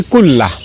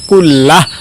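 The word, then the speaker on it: كُلَّهُ: আল্লাহুম্মা গফিরলি যামবি কুল্লাহ। আমি আবারও বলছি, আল্লাহুম্মা গফিরলি যামবি কুল্লাহ। লাস্টে হা উচ্চারণ, কুল্লাহ অথবা কুল্লাহু এভাবে পড়বেন।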